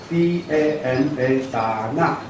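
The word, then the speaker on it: 達那: 打那 DANA 达纳，后面这个重音的发音达纳。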